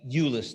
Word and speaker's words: Eulois: Eulois, Cleckley, Eulois, that's how you say his name, for the first time to this community.